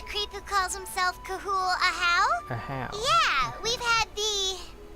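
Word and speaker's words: Ajaw: It's not Aja, it's not Aha, it's Ahau.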